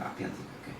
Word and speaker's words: Appia Antica: Is that how you pronounce it? Yeah, the Appia Antica.